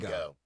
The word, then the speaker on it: Django: The D is silent. Thank you. I Oh, like apologize. like in in Django. Django.